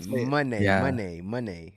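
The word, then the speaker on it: Moné: Money.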